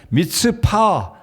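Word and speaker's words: מצפה: 미스바 아는이 단어의 의미는 히브리어 발음으로 말씀을 드리면 미스파 미파라 말인데요이 말의 의미는 망대 또는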